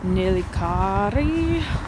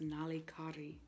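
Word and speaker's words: Nallikari: and we walked to this beach called, like, Nalikari. I think that's what it is. Also wrong. It's pronounced Nalikari, but I can't roll my R's.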